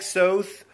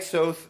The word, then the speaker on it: Soth: a series of links I like South but it rhymes with both as he says Alec Soth's Magnum John Lowenstein Beth